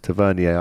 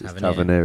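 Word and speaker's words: Tavernier: big Tav uh who I always get his pronunciation wrong it's tavier I say but it's Taver isn't it and then Dominic salanki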